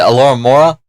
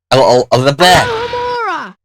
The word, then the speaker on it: Alohomora: And cast Alora. I can't pronounce it. Alora Mora. Alohomora! What he said.